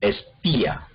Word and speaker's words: espía: Por ejemplo, espía. Entonces ahí el acento cae en la I, y entonces la I forma una sílaba y la A forma otra sílaba diferente.